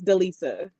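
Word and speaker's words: Delyssa: love you Rodney yes my real name is Delisa I like the Lisa so it's spelled with the l y s s a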